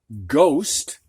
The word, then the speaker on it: ghost: set here we have the h after a g is silent so we have ghost and ghost is a